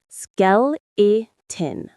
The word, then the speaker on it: skeleton: The stress is on the first syllable. Skele. Say it with me. Skeleton. It's like shell but with a k sound and then in.